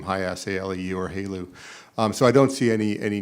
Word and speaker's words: HALEU: HALEU. HALEU, okay, from downbending high enriched uranium.